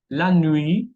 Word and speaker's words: nuit: Letra T muette, tenemos la nuit, la noche, juillet, julio, un mot, una palabra.